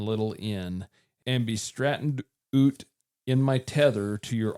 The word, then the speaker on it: oot: Yeah, but I mean, the things that he's saying, oot is just out.